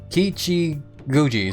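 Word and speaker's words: Kichijōji: or Ki Guji. Sorry, I I I've been mispronouncing it like several times there now, but I think that's how you're supposed to pronounce that day.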